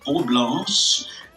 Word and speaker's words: Oblanche: O meu Instagram é Oblanche, OBLANCHR, porque a pronúncia em francês é um pouco diferente, né? Digamos, a escrita, mas escrita Oblanche.